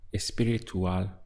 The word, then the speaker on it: espiritual: It's espiritual. All they're doing is just adding on an E to the front of the word here and changing the pronunciation. So quite easy to remember, right? Espiritual, just like that.